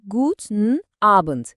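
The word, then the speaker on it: Guten Abend: Akşam 6'dan sonra da sahneye gooden abent çıkıyor. Yani iyi akşamlar. Telaffuzuna gelince yine good abent gibi düşünün. O abent kelimesindeki a sesini böyle birazcık uzatırsanız kulağa çok daha doğal gelir.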